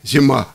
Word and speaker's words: Zima: редактор британского русскоязычного журнала «Зима». Магазин, я не могу, как, кстати... Зима, просто зима. Магазин – это журнал по-английски. Хорошо, как по-английски произносить название? Зима. Просто зима.